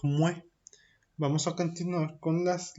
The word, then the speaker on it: muets: Mue. Fíjense que se escribe muets, pero no pronuncio la TS, simplemente es mue.